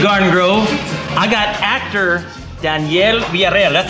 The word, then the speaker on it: Daniel Villareal: I got actor Daniel Villareal.